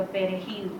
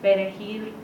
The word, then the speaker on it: perejil: we have a certain, when we say words like perejil, we roll our R's.